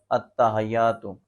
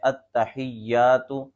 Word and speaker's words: التحیات: میں لفظ ہے التحیات، تو لوگ کیا پڑھ رہے ہوتے ہیں التحیات، التحیات، تو یہ درست نہیں ہے۔ درست تلفظ یہ ہے التحیات۔ اسی طرح آگے لوگ